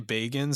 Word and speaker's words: Bagans: Is it Bagans or how do you pronounce it? Zak what? I usually say Bagans. Some people say Bagans.